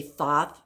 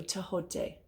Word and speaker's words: Thoth: A lot of people say Thoth. That is not how it's pronounced. The H is a sound. So Tehote.